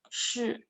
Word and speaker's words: 是: 是 is you can imagine share, but only put the first part. 是 like you have to roll your tongue, roll your R. 是.